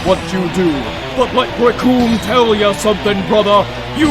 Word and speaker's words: Recoome: to this man, because the name's Recoome, and it rhymes with doom, and you're gonna be hurting all too soon!